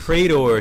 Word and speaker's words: Praetor: Praetor suit, that's how you say it. I could not pronounce it for shit.